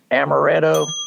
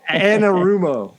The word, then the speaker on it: Anarumo: Change that last name, Amaretto. No, I never say it right. It's It sounds like a drink I can get down there at the Holiday Inn. Let's go get one. Wait, would you like an Amaretto? Anarumo.